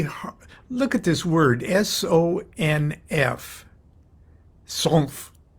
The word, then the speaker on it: sonf: Why don't we sort of tear a page out of more modern Hebrew pronunciation and sort of add a vowel sound, A-E-I-O-U, after these, side-by-side consonants. So instead of ol sanf, we'll say ol sonuf or ol sanufa.